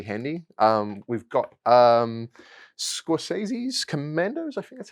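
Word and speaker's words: Skorzeny: come in really handy um we've got um scorsese's commandos i think that's how you say it scorcini oh scott zaney yeah yeah germans that's that's a good way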